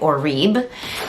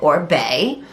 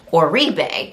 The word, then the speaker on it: Oribe: In one of my previous videos, I called it Oribe, and I guess it's actually, you pronounce it Oribe. I've also seen it pronounced Oribe.